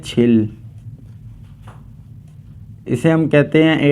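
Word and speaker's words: 칠: सेन लिखा हुआ है इसे हम कहते हैं छिल इसे हम कहते को फल इसे हम कहते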